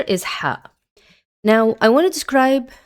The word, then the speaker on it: ح: So ha is a voiceless brey sound and it doesn't have an equivalent uh in English. Now uh it's very similar to the uh h but if I can if I can describe it it's going to be a strong whispered h. Okay. And it's a it's deeper. is pronounced deeper from the throat.